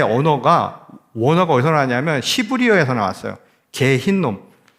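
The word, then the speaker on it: גיהנום: 개 흰놈. 발음이 좀 엄청 흰놈이 아니라 개 흰놈은 저도 말하면서 굉장히 그러네요.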